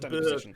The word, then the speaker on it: Bort: and assuming you're still Bort, security guard in front of the science lab. It's pronounced bird. It's Swedish. Swedish bird.